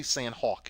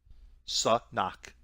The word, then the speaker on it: Sanhok: Don't say Sanhok either. Sanhok. The H is silent, not an American word.